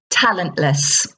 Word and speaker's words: talentless: can say Talent less talentless pronunciation there it's weaker sound at the end talentless the opposite of confident